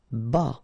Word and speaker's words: bas: Bas, final S not pronounced.